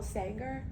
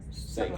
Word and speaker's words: Sagan: Carl Sanger? Sagan. Carl Sagan. Sagan. I always get that name wrong.